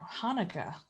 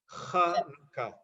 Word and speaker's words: Hanukkah: Anyone else have any questions about Hanukkah? Can we go over the pronunciation again? Because I hear Hannukah, Hanukkah. Okay, so it's a guttural H or CH, or sometimes transliterated as KH. Hannukah, right? Hanukkah.